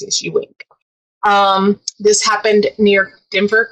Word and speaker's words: Ewing: um it kind of ties in with multiple stories um the person being accused his name is Alex Ewing spelled e-w-i-n-g but the pronounce CSU wing um this happened near